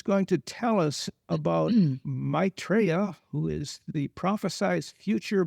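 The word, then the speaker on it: Maitreya: Yeah Rob can you pronounced his name right. It is Maitraa.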